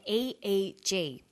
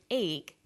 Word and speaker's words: EEG: researchers he says an EEG that's an abbreviation we don't pronounce it eek we say aeg aeg